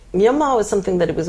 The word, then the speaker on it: Myanmar: a weird name say Myanmar is something that it was always cool but in literature and informal writing it was always pronounced Burma even though it was written Myanmar I've been reading up